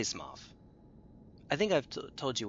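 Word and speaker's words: Smough: It's Smoff. Yeah, well, I say Smoff.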